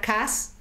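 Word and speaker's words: כעס: Sí, es palabra kas también, además que lleva el acento en la segunda A, y significa atormentarse, significa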